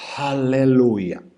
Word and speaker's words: aleluya: el tiempo de la palabra aleluya aleluya así sería propiamente la pronunciación hebrea aleluya es una palabra